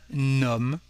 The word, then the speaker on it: homme: To translate a man, we will say un homme with a connection between the two words. And in this case, the plugged H is actually like nothing. It's just a rest from the Latin or the Greek languages.